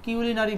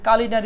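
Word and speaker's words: culinary: her performance in এখানে এই যে কালিনারী এই শব্দটাকে আমরা অনেক সময় কিউলিনারি বলে থাকি এটা হচ্ছে কালিনারী উচ্চারণ কালিনারী আবার এটাকে কিউনারী কিউলান নারী বলা যায় তো কালিনারী এটা বলতে পারেন কারণ এটা হচ্ছে আপনার ব্রিটিশ উচ্চারণ কালিনারী লাবনী নাজিম বলেন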